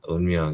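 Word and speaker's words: 운명: well, I believe in the Umyong, right? But am I saying that right? Yeah, Unmyung, yeah, you're saying it right.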